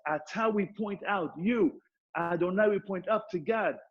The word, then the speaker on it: Adonai: It's pronounced Adonai.